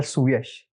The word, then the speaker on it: Suyash: How do you pronounce it? Sir Suesh.